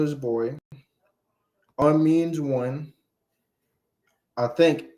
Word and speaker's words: homme: Man is on. The H is silent. See, they don't say the H.